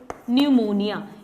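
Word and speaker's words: pneumonia: Then new से न्यूमोनिया, न्यू से न्यूमोनिया। इसकी स्पेलिंग पी से है बट यहां पर पी साइलेंट है।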